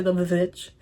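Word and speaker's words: The VVitch: It's like The Witch, the movie with Anya Taylor-Joy, that's spelled with 2 V's instead of a W, so a lot of people say The Witch.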